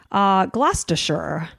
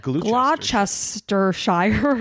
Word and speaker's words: Gloucestershire: Gloucestershire. We're all very happy for you, Allison. Well, you should be, because I was going to pronounce it Gloucestershire or something like that. It's what is Gloucestershire. Okay.